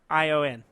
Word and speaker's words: Carrion: Carrion. Like Carrion. Like Carry on.